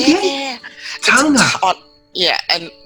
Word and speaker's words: Taga: But yeah, so it's like there's an N in there. So Tanga. It's a silent N. Silent N. Yeah. Taga. Yeah. Nice. It's like a soft G.